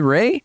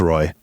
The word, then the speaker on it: Roy: Is it Ray? No, it's Roy.